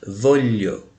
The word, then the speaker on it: voglio: E observando aqui o GL antes do I, isso equivale ao nosso LH em português, voglio.